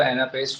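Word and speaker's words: anapest: अगर आप प्रोनाउंस कर लो एनापेस्ट को, तो एना पहला अनस्ट्रेस है, ए ना, अगेन वॉवल साउंड को देखना है हमने, एना, तो एक ये अनस्ट्रेस हो गया, एक ये अनस्ट्रेस हो गया, और पेस्ट, ए स्ट्रेस।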